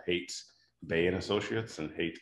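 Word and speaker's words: Haight: ceo of a small defense contracting company called hates bay and associates and hate is spelled h-a-i-g-h-t again they my last name b-e-i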